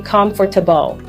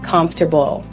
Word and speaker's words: comfortable: Many learners say comfortable, but the natural pronunciation is comfortable.